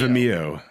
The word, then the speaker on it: Vimeo: I say it like video, but Vimeo. Vimeo. I think it's Video. It's It's Vimeo. video. Vimeo. It's video. With an I M. said Vimeo. Yeah, it's video with an M.